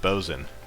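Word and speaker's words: boatswain: view boats swaying too always hollering it's actually pronounced bozen oh and that's carousing is hmm yeah i've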